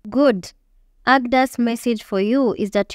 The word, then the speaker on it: AGDA: Look, I have an urgent message for you from AGDA. It pronounced AGDA as one word.